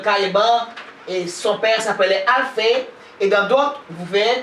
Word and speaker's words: Alphée: Son père s'appelait Alphée.